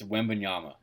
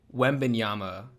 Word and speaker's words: Wembanyama: how you pronounce his name how do you pronounce it it's wembanyama webinyama whatever webinyama when he's on your team